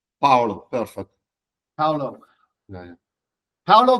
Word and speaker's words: Paolo: you and uh first of all am I pronouncing your your name correctly Paulo perfect Paulo yeah Paulo exactly okay